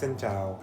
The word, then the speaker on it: xin chào: - Politely, it’s ‘xin chào.’ - Ah right, ‘xin chào’!